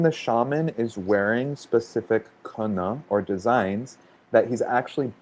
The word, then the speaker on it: kene: So that's spelled Kene, but they're the way that it's pronounced kene.